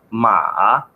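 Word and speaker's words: 马: vocês provavelmente conhecem ele se pronuncia no terceiro Tom eu botei o pin embaixo se pronuncia ma significa Cavalo né ah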